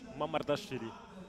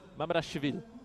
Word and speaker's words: Mamardashvili: What a pronunciation. Yeah, I've been studying them. Don't worry. Mamardashvili. Mamardashvili.